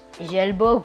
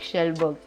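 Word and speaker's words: Kjellberg: And by the way, his pronunciation for his actual name, Felix Schellberg. I thought it was Schellberg, but never mind, it's Felix Schellberg.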